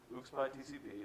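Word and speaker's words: ucspi-tcp: And the first few things that were already covered immediately were daemon tools, his worldview about how you manage services, UXPy TCP, that is how you pronounce it, the thing that provides an INetD-like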